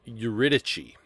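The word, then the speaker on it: Euridice: main characters are orao orus and his wife uichi that's how you say her name um and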